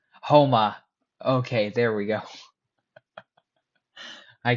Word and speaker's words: Houma: I I I It's Houma. Houma. Okay, there we go. I can't pronounce these French names for the life of me.